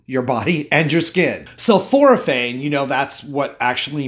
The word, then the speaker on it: sulforaphane: body and your skin sulforaphane you know that's what actually makes the vegetables kind of smell and if it sounds like the word sulfur then you're right so fluorophane actually protects